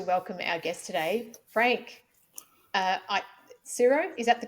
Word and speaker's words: Tsuro: And I am very excited to welcome our guest today, Frank Tsuro. Is that the correct pronunciation?